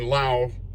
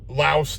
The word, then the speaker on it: Laos: There is one guy in Laos Laos to everybody else, but it's pronounced Lao.